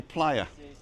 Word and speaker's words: playa: And if you take the 3-ply and you put playa, then that's how you say playa. Vamos a la playa. Because although it's spelt play in English, they pronounce it playa.